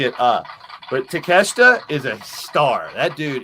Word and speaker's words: Takeshita: um uh uh takeshita i always want to call him take a shitta because that's the way his name is spelled take up but takeshita is a star that